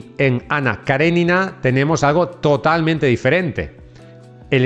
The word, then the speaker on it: Karenina: Ana Karenina o mejor pronunciado, Ana Karenina, que mantendría ocupados a escritores y lectores hasta su conclusión en 1877.